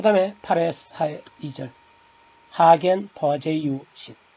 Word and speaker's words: Poiseuille: 그 다음에 8의 2절 하겐 버제유신 미국 사람은 헤이즌 버실리 이상하게 읽는데 원래는 하겐 버제유 독일 사람 프랑스 사람인지 그래서 그쪽 발음을 해줘야 됩니다.